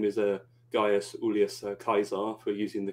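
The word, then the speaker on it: Gaius Iulius Caesar: Well, his full name is Gaius Ulius Caesar, for using the correct Latin pronunciation, but I'll just call him Caesar for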